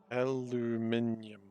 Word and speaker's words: aluminium: Aluminium. No, nyum is one syllable.